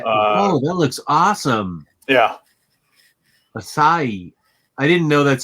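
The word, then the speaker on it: açaí: it's uh okay oh that looks awesome yeah acai i didn't know that's how you pronounce that word mm-hmm i don't eat away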